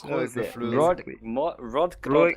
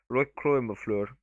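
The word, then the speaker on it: Rødgrød: It was Rodgrod mid flute. No, you're pronouncing too many of the D's. It's Rodgrod. That's pretty good.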